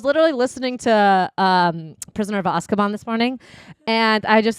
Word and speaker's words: Azkaban: we pronounce it Azkaban in the community.